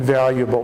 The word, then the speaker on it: valuable: rewarding for me but we have to say the L Val valuable valuable he said it was